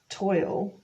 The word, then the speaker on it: TOIL: or annual vacation um it's pronounced toil and toil is actually a word itself it means like strain